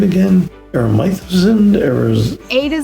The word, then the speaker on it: Aresimowicz: Aresimowicz, A to Z, Dad, Coach, Leader, Friend.